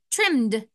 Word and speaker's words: trimmed: Oh, I only hear the d sound at the end, even though it's ed, because is a voiced sound. So we say trimmed.